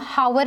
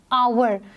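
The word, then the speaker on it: hour: हैं ओवर ठीक है इसमें हम हावर नहीं कहते हैं आगे के साउंड नहीं आई है वे प्रोनाउंस आईटी एक अवर तो क्योंकि हम इसमें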